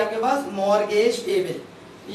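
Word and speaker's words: mortgage: यहाँ पे भी एक लेटर साइलेंट है स्टूडेंट्स, बताएं कौन सा, ये टी साइलेंट है, और यहाँ पे कौन सा लेटर साइलेंट था, बी साइलेंट था। इसको मॉर्गेज नहीं बोलेंगे बल्कि मॉर्गेज पेबल बोलेंगे, टी साइलेंट है, लिखा जाएगा, पढ़ा नहीं जाएगा।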